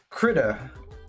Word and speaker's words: Krita: But what I'm using here is Krita. I believe that's the official way you pronounce it.